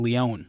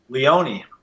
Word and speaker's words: Leone: listen to it but welcome Damien Lyon or is it Leone Leone okay cool cool everybody whatever